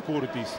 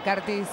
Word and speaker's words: Curtis: jugando en bohemios pero es un tema de pronunciación en lugar de cartis en este caso hace una a todo el inglésa no el apellido Curtis la u se pronuncia a en inglés claro pero en este caso